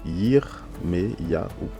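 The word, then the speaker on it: ירמיהו: ne se prononce pas et le deuxième se prononce ça fait le son e d'accord donc ça fait yirm ya ou donc qui veut dire Jérémie donc ce qu'il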